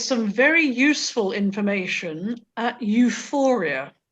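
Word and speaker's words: EUFOREA: very useful information at euphoria and that is spelt e-u-f-o-r-e-a it's the european forum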